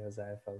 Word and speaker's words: Hozaifa: You say it pretty accurately, Hozaifa, with the O silent.